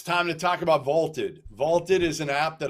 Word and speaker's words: VLTED: a try for free vaulted is spelled v LTE D it's the app to challenge your friends store your predictions and join daily cash prize pools without any entry fee download vaulted today all right Tyler